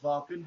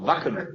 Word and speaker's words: Wacken: I think it's pronounced Varken. You would know better than I. It's called Wacken, actually. It is pronounced Wacken then. Wacken. Yeah, the A is more hard, basically. That's the basic German.